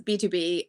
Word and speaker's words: BTOB: He is B2B and he is singing in falsetto, and he's singing a cover of that song, and it is amazing to watch.